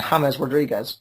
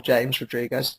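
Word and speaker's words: James Rodríguez: And James Rodriguez, or James Rodriguez, depending on your pronunciation, both are acceptable, I have checked.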